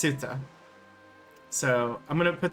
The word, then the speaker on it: Ceuta: And again, I don't know if it's pronounced Cuta or Ceuta. It might be Queta. I'm going to look it up right now. Pronunciation. Ceuta. Okay. It's pronounced Ceuta.